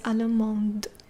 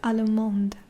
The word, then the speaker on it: allemande: But when it's feminine, you add the E at the end. You have to pronounce it as allemande. Okay, allemande.